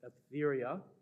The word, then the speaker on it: Etheria: This is from the diary of the pilgrimage of Algeria, or sometimes you'll see her name spelled and pronounced Etheria.